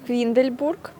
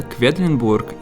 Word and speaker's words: Quedlinburg: We’ve arrived in Quindlenburg… If I’m pronouncing it correctly. Yes. Let’s try again. What’s the name of the town? Quedlenburg. Quedlenburg! What’s it called? Quedlinburg. We’ve arrived in Quedlinburg.